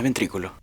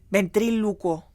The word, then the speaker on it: ventrílocuo: No es ventrículo. Ventrílocuo.